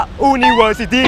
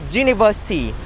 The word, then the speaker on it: University: พยัญชนะ ว่า aei ou มัน คือ U แต่ ว่า มัน ออก เสียง ว่า ชื่อ นี้ versity ไม่ ได้ ออก เสียง ว่า อูนิเวอร์ซิตี้ ใช่ ป่ะ เพราะ ฉะนั้น เนี่ย เรา จะ ต้อง ใช้ กับ อ่า University แล้ว ก็ The univers